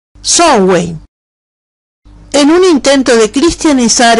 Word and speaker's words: Samhain: La vigilia de Samhain era pronunciado en la primera Bretaña, Samhain.